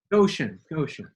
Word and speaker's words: Goshen: I should have, it's Goshen, right? Goshen. Goshen. Yes.